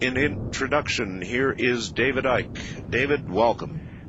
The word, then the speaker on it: Icke: They uh they they called me um Icke. Um They called you Icke? Yeah. I mean, that you don't pronounce the C.